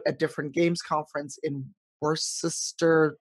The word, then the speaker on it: Worcester: town is Worcester, but the sauce is Worcestershire.